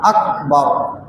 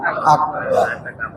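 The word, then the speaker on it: أكبر: বাইরের কিছু চলবে না খেয়াল করব যে কর উচ্চারণ যেন হয় আরবিতে কাফ আল্লাহু আকবার আল্লাহু আকবার আল্লাহ তালা আমাদের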